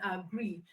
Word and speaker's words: agree: is the stressed one gree is the stressed in a gree because verb the verb agree has two sybles and the second part is the stressed one so what we are